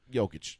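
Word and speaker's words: Jokić: I keep saying Jokic. It's Jokic.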